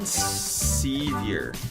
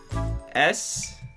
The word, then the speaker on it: Sevier: Colton Sevier. Okay. C. Colton. Colton. Okay. Sevier. Sevior.